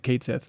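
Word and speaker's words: Cait Sith: out this week and they said hey by the way we're pronouncing it Kate Sith okay moving on what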